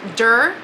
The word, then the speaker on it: door: I spent about 20 minutes trying to pronounce door, and it still comes out weird. It's dur.